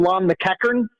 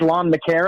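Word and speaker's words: Lon McEachern: I do like that you called him Lon Mckan and he's Lon McCarron.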